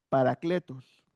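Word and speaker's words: παράκλητος: vine o en el diccionario Strong y se pronuncia, se lee paracletos y dice que la definición es intercesor o consolador.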